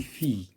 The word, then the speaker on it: fille: هنايا عندنا هادو كاملين كينتهيو ب اي 2 ال او ولكن هذه ça se prononce d'une autre manière. Donc on dit fille.